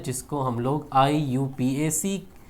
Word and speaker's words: IUPAC: IUPAC को pronounce आप लोग करेंगे इस तरीके से, जैसे IUPAC। आप इसको प्रोनाउंस ऐसे करेंगे IUPAC।